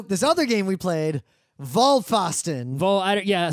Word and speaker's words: Vollpfosten: other game we played vol fosston vault yeah sorry about the German pronunciation it's volvió LLP fos t en it's all one word